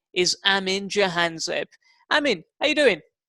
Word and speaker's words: Amin Jahanzeb: he's managed white india joy his name is Amin jahanzaib I mean are you doing yeah did I pronounce your name correctly perfect have you had